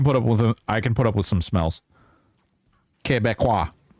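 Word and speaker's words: Québécois: Quebecois. Nuh-uh. It's Quebecois. Quebecois. Quebecois. Mm-hmm. That's how you say it.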